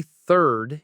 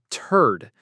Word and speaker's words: third: When you say third, if you don't use that TH sound correctly, it can very easily turn into turd, which, is definitely not what you want to say.